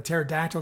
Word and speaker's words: pterodactyl: Zora says, what does it sound like when a pterodactyl goes to the bathroom? And Gabe says, what? And Zora says, nothing. The P is silent.